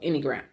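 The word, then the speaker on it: Enneagram: I'm going spell it for you. It's E N E A G R A M. Okay, so anyagram.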